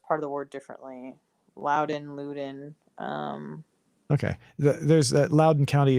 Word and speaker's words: Loudoun: I'm going to go ahead and see how Google pronounces it. Loudon. Oh, yeah, Google did Yeah. Loudon.